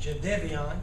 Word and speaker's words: Jadeveon: we got some wonderful news this morning when Jadeveon Clowney and that's the way it's pronounced Jadeveon sometimes did they be on but his mom